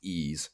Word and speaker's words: Ys: opinion it is nac's it's just the letter y s but it's pronounced E's book one and two